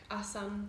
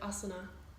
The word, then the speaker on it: asana: the language of Hindi, they actually leave the A off the end, like asan instead of asana. And the proper pronunciation of Sanskrit is to actually pronounce the A on the end.